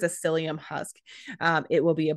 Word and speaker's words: psyllium: are the brand names the type of fiber is called psyllium husk which is spelled with a p so it's p s y l l m um and that is